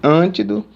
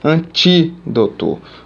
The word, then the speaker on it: antídoto: é esta mulher é antídoto antido não dá certo não tem como tem que ser aqui antídoto ou seja a primeira